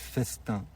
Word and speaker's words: Festin: personne nous a rejoint, qui s'appelle le collectif Festin. Ça s'écrit FE2S''TIN.